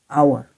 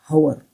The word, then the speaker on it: hour: But in word hour, the sound begins with a, hour, not hour.